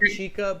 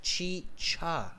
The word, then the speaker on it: chicha: And thank you for correcting my pronunciation on not chica, but chicha.